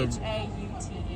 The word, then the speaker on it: Haute: Brooklyn Hot Dogs or Haute Dogs, however you want to pronounce it. So Haute.